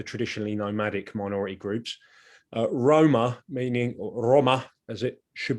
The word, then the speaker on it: Roma: the of the traditionally nomadic minority groups uh roma meaning roma as it should be pronounced recently immigrant romani communities from the continent